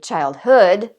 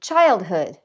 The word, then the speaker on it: childhood: We don't say childhood, we say childhood.